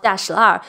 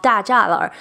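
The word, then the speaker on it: Dashilar: Mayor lived in one of the oldest neighborhoods in Beijing called Dashlar, which in this book they chose to go with the pronunciation of Dajalar, which is a common mistake about the pronunciation of that neighborhood that I think they need to change.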